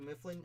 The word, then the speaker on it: Mifflin: I do Mifflin. I did, like Dunder Mifflin.